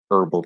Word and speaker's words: herbal: similar words such as herbal tea silent h herbal same thing right silent h